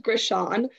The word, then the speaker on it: Grishon: The last name is very hard. It's pronounced Grishon.